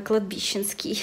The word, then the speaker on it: кладбищенский: Кстати, не посмотрела, какое ударение. Секунду. Фух, все правильно, кладбищенский.